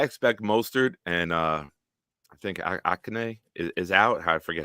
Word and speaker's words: Achane: So I expect Mostert and I think Akane is out. I forget how to say his name. Achane.